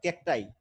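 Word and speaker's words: cacti: তারপর এতে বোঝা যাইতেছে প্ল্যান্ট গ্রোথ স্পেয়ার্স আচ্ছা থর্নি অর ক্যাকটাই, এটার উচ্চারণ হচ্ছে ক্যাকটাই, ক্যাকটাস থেকে ক্যাকটাই বুঝছেন, থর্নি কাঁটাযুক্ত অথবা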